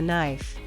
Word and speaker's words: knife: words with unpronounced letters kn KN silent k he cut the bread with a knife honest silent h he